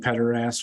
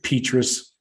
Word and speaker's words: Petras: Spencer, do you guys want me to keep saying Pederass, or should I pronounce it right?